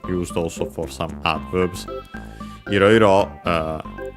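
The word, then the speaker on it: いろいろ: Iroiro should be unaccented.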